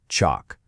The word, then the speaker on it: chalk: You know, just like the words talk or walk, you don't hear the L in those either, do you? Same thing. It's pronounced chalk.